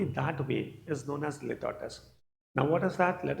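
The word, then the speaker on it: litotes: Now coming on students, एक और बहुत ही इंटरेस्टिंग फिगर ऑफ स्पीच है, it is known as litotus. Okay, please mind the pronunciation. It will be spoken as litotus.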